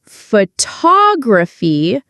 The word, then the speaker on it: photography: Take the word photograph. The stress is on the first part photograph. But if we say photography, the stress changes. Photography.